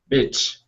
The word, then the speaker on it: beach: Make sure you're pronouncing that long E sound.